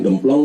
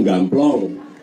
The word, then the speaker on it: gamplong: Bukan gemplong Pak tapi gamplong. Eh, sama A jangan diributin. Tapi memang betul memang harus diluruskan kalau keliru. Yang benar gamplong nggih pun gamplong.